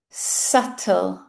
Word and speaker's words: subtle: subtle subtle Not subtle. subtle How do we pronounce this next one?